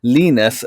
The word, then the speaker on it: Linus: name because you know I was pronouncing it Linus access and I'll ask you how you pronounce it he said leanness so where are are